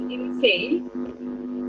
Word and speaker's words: Innsai: So I will do so, and I will spell it out for benefit of all. It is insane. It's a ancient Icelandic word of intuition. So I will spell it out. Innsai.